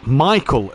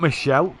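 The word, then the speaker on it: Michele: Richie Michael, as he is called, not Michelle. We was told in the Discord last week that it is Richie Michael. And it's just the way it's spelled in Italy is why we thought it was Michelle.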